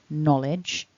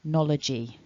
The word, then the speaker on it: knowledge: end of the word there is no e vowel at the end of the word knowledge it's not knowledgey if you've heard that